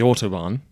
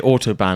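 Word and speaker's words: Autobahn: It sounds like you're saying autob. Yeah, but it's spelled that. I say autoban and it feels weird saying it because I've heard other people saying it and they say autob. It's b a hn.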